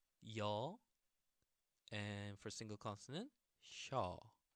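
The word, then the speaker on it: 쇼: Okay, so the main difference between so and shaw, there's that Y pronunciation, Y sound.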